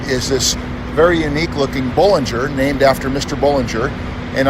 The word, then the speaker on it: Bollinger: on she likes to pronounce it Bollinger like bowling thank you different pronunciation